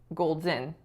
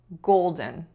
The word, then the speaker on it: golden: when I said golden Gold's in so we shouldn't be stressing the second syllable we should be stressing the first so it should be golden golden the other word that